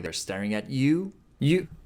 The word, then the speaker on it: よ: like they're staring at you? You. 1, 2. It does look like a fish. Yo. Yo is pronounced like yo in yo-yo. In British English, it's more like yo in yonder.